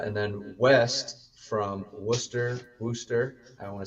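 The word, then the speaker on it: Wooster: Uh, and then west from Worcester, Worster, I want to say it right, to Youngsttown.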